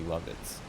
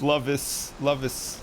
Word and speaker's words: Lovitz: It's not exactly Lovitz. How do you pronounce it? Lovitz. No, I don't. It's Lovis. Lovac. It's Hungarian, I think.